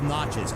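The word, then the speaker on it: Natchez: Pronounced Naches. Oh, Natches.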